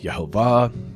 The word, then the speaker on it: Yehovah: I'm in the camp of believing that the way that God's name is pronounced is Yehovah, and that's based on a lot of scholarly work done by Nehemiah Gordon and some others.